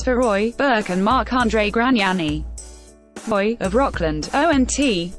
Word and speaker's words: Gragnani: It was unclear what issue they had with Gragnani, of Isle-Bizard, Q, who says his name the Latin way, not pronouncing the second G.